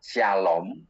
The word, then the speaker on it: shalom: Salam itu dalam huruf nulisnya itu SLM, dalam bahasa Ibrani membacanya shalom.